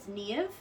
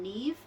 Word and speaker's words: Niamh: In the Irish language, MH makes a V sound, sometimes a W sound, like in Samhain. But yes, so it's Niamh, and I also accept the pronunciation Neve, and some people call